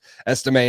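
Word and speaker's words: Estimé: I know they took Audric Estime. Oh, gosh, stupid silent letters. Estime out of Notre Dame last year, but I do think that Amarian Hampton is a difference maker.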